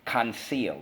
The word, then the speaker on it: conceal: First syllable, con, pinky space. Second syllable, seal, conceal. All right, so how do we mark this up? Fantastic. Underline the E. I see a rule here. Exactly. Rule 2, soft C when followed by Y, I, or E.